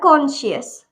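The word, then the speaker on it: conscious: Okay, next है हमारा कॉन्शियस, कॉन्शियस। ठीक है, इसमें भी सी साइलेंट रहेगा, क्यों, क्योंकि उसके पहले एस आ रहा है।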